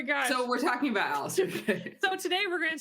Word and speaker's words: Alastor: And funny enough, the character we're talking about today is Alastor. Just say Alastor. Okay. Just American it up. Yeah, I think that's how they all pronounce it in the show.